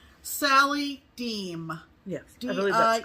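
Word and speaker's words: Diehm: And this came to us from, and I think I'm pronouncing this right, Sally Deem.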